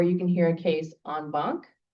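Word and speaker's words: en banc: can hear a case on bonk, and that's not spelled that way, but that's how it's pronounced.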